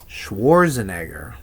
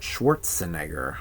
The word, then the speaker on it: Schwarzenegger: Schwarzenegger, not Schwartzenegger.